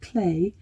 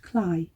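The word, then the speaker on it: Cley: We continued on our way through the village, whose name looks like Clay, though apparently, according to a Villages by the Sea programme that we saw, is pronounced Cly.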